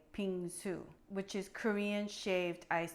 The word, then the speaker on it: 빙수: subscribing before we begin I want to phonetically teach you how to say ping zu which is Korean shaved ice dessert now if you have trouble pronouncing ping soo please call me okay